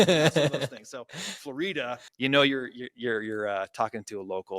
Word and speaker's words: Florida: For those who don't know, you can tell somebody's not from here if they call this street right out here Florida Street, because it's spelled just like Florida, but it's pronounced Florida.